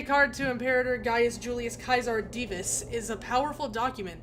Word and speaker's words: Caesar: But the actual the actual the name of the actual emperor uh is pronounced Kaisar. It's just I think it somewhere along the line people just decided Caesar was how it should be said even though it's not.